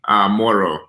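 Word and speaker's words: Mhoro: Yeah, so to say hello, you say Moro.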